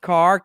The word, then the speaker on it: Kaehr: We found out it is pronounced Kaehr, Kaehr, pronounced Kaehr down there.